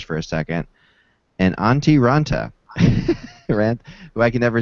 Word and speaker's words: Raanta: say auntie Anna that's closed on trakis right raanta right I always want to say random bits on taranta antti raanta today came out in a finished